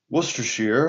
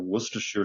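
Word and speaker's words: Worcestershire: It's the same town for which we have our Worcester sauce or Worcershir sauce. It's spelled Worester, but of course they don't pronounce all the syllables.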